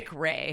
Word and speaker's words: McRae: It's not McRae. It's Mick. It's Ray. McRae. Mick And therefore, Ray.